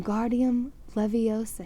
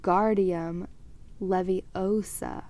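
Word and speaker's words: Wingardium Leviosa: much more luck when guardium leviosa he shouted waving his long arms like a windmill you're saying it wrong harry heard hermione snap it's when guardium leviosa make the gar nice and long you do it then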